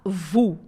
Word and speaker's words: vous: Ó com U tem sempre som de U. Então a gente fala vu, vu, som de u mesmo.